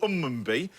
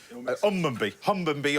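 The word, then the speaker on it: Hunmanby: You're in a little place called Unmunby, where you pronounce it's spelt with a H, but you lose the H in the Yorkshire. It's a thing. It's Hummunby or Yorkshire in Yorkshire.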